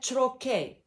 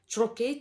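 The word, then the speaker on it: trochee: the ion back deals with combination of unstressed syllable the opposite to this rhythm is called a trochae and the adjective is trochaic troche t r o c h double e chirokaik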